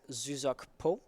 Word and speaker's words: Zuzak: So I can vouch for the pronunciation being Zuzok Po.